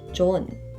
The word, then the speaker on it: 좋은: But the pronunciation is not 좋은, but rather just 좋은.